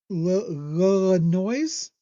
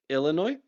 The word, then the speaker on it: Illinois: Now, the game after that against Loise. Is that what that is? Illinois. You know, look at the way it's spelled.